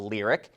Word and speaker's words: Lyriq: its naming structure and will rename all of them so they end with the letters IQ, pronounced IC. The first will be the electric Cadillac SUV called the Lyriq, and it's coming out